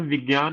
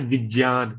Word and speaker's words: विज्ञान: है यह है जन इसको बच्चे पढ़ते हैं विज्ञान इसका उच्चारण विज्ञान नहीं होना चाहिए उसका उच्चारण होता है विज्ञान ज क्योंकि आधे ज से बना है उकता भी ज के